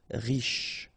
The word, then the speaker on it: riche: Final E not really pronounced, so sh is the last sound. Riche.